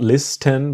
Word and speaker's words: listen: So to listen to someone or something is about to give your attention to this idea that the T is silent. It's not listen but listen to listen to me, you, him, her, us, them.